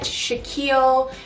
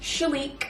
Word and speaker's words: Shalique: wrap their heads around i get shaquille shilacu shilokue a lot if you were wondering my first name is pronounced shalique but yes to answer the